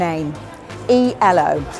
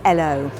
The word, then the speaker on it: ELO: Let's kick off with an A, E, L, which strictly speaking is not how you say it. It actually is L.